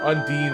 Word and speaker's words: Undine: Or Undine, as some people say. I think that's the proper way to say Undine. But I like Undying because it sounds like it's saying Undying.